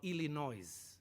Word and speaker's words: Illinois: He was a chief, and he always used to talk about Illinois, because he has to pronounce the S.